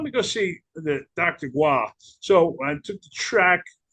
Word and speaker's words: Goy: Goy." And she's like, "Oh, it must be your first time because his last name is pronounced gu, you know."